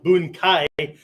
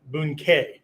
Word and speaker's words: bunkai: That's pronounced bunkai, not bunkei, right? The A-I, A-I, bunkai, right?